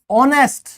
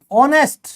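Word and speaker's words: honest: ऑनेस्ट, ऑनेस्ट, ऑनेस्ट यानी कि ईमानदार। यहां पे ओ, ये जो ओ आया है, ये जो एच है ना दोस्तों, ये क्या है? साइलेंट है।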